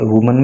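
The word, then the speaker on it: women: तो जहाँ पे WMEN होता है तो वो प्लूरल होता है, और उसका प्रोनाउंसिएशन जो होता है वो वीमन होता है। और जब WOMAN होता है तो उसका प्रोनाउंसिएशन होता है वुमन, और उसका मतलब होता है एक महिला।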